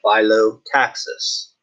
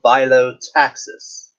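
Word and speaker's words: phyllotaxis: And that's what's known, 137.5 is what is known as the angle of philo-taxis.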